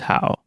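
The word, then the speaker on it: 好: The pronunciation of this character is how. The pronunciation will always be a single syllable that consists of three parts: its initial, final, and tone. The initial of this syllable is H, its final is ao, and it has the third tone.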